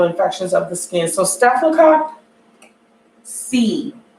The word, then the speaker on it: Staphylococcus: So Staphylococcus C. It's pronounced cock C, not cock.